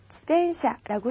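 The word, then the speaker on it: 自転車: 지텐샤라고 해요. 가운데 있는 태에다 땡땡을 붙여 지텐샤로 발음하지 않도록 조심하세요.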